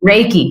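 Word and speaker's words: Reiki: uh sound healing and you do Ricky, right? Is that how you pronounce it? Raiki. Raiki. Okay.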